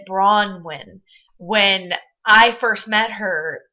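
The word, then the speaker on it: Bronwyn: She pronounces it Bronnin. When I first met her, it was just a part of my accent coming from Michigan, I guess, that I used to say Brian, Brunwin, Brunwin.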